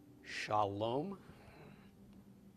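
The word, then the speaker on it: שלום: a column Val okay so we've got SH of the sheen the of the comments the L of the lawmen of the coulomb and the final mem all together is Shalom Shalom and the most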